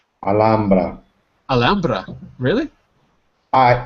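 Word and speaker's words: Alhambra: Santiago and Rafael have you you been to alhamra have you seen the tiles in alhamra uh me no little pronunciation HRA is an English pronunciation of the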